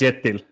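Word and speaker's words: Kjetil: Can we get can we get uh what's how do you pronounce his first name?" Ketil yet. I think it's Yetil.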